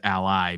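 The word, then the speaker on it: ALLi: mentioned and and we we pronounce it Ally because we believe that every self-published author needs an ally that's the easiest way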